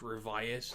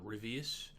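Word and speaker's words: Ryvius: yeah yeah next is infinite revas it is pronounced revas not rivus uh basically it's about these teens who get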